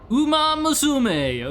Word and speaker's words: Uma Musume: have like perfect pronunciation, but with how huge Umaisimma has been, you would think at some point people would be like, "Hey, here's actually how to pronounce it." Any servers down? Okay. Like just just Google how to say horse daughter in Japanese. I guess horse young woman. Uma Musum.